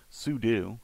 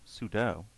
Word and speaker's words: sudo: into the chero again am I mispronouncing that I found out you know years ago obviously but it was years after I started using it sudu I was I was thinking it was sudo for some bizarre reason